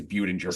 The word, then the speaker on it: Budinger: I went to a website and I said, "How do you pronounce Chase Budinger?" And it came back as Budinger.